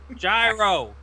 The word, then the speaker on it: gyro: Gyro. It actually is pronounced gyro and with I law.